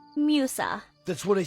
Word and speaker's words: Musa: I mean, it is kind of funny because in Italian, her name is pronounced Musa, because that's just how Italian letters work.